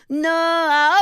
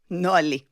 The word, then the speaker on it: Noa: Noa of Noa nosat לקולנוע. Noa motorcycle riding to the movies. Apparently the only two words in the Hebrew language that rhyme with my name.